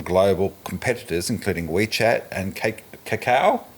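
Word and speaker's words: Kakao: He also banned ads from global competitors including WeChat and Cacao. Is that Caca? Yeah. um uh because it reads like chocolate Easter theme there but it's spelled with a K uh like Kayla uh which he considered emerging rivals.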